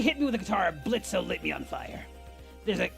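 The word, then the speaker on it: Blitzø: Fizz, may I remind you that the O is silent. I like calling him Blitz or Blitzo depending on my mood.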